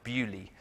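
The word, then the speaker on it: Beaulieu: if anyone's been here you might think it's pronounced earlier it is not it is pronounced Bewley and so what does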